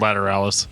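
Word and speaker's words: Lateralus: comments about tool uh the album is pronounced lateralis okay cool i uh i looked up a youtube video of the band talking about it it's called ladder alice so dan is right yeah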